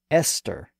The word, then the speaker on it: Esther: The same thing happened with names like Thomas, T-H-O-M-A-S, and Teresa, T-H-E-R-E-S-A, and Esther, E-S-T-H-E-R. Those names were used in Greek and followed the same general path as a word like time. Their pronunciations changed within Latin and then remained that way in English.